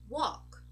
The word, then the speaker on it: walk: a pattern very good so when we have a word that has a l and it ends in a k we don't actually say the L as in a dark l or a light L not at all we just saying all this representation here this